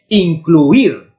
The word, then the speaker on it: incluir: Incluir. Aqui a sílaba tónica sí que está no diftongo, mas não está na primeira vocal débil, está na segunda. Incluir, está na I.